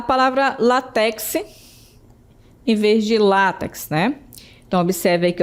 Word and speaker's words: látex: Temos a palavra láx em vez de látex, né? Então, observe aí que eu tenho o acento tônico é no lá e não no final. Então a gente pronuncia látex e não latex, certo?